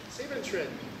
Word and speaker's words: Siebenschritt: Sieben-Tritt.